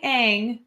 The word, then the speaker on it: Aang: I mean, if you're saying Aang, then you're at least halfway there. If you're pronouncing the names of your characters right, you're already a few hundred steps above the live action M.